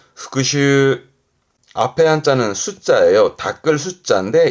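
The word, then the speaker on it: 復習: 발음은 오후그 오후 그렇죠 여러분 많이 하시는 복습 제가 강조하죠 복습하시는 거 발음은 후크슈 후크슈 앞에 한자는 숫자예요.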